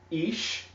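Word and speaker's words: אש: And again, this word ash means fire, also pronounced ish, according to the vowel pointing system.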